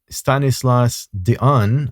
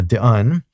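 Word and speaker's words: Stanislas Dehaene: Uh this gentleman his name is Stanislas Dion I think he's that's how you pronounce it because he's French but uh Don he is a cognitive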